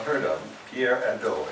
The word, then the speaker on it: Hadot: not heard of, Pierre Hadot, H-A-D-O-T. You know, French never pronounce their consonant you don't have to pronounce. So just leave off the initial H and the final T.